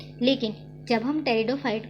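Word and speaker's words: Pteridophyte: पेट्रिडोफाइट को मत पढ़ना, ये पी साइलेंट में होता है, अपने को क्या पढ़ना है, टेरिडोफाइट।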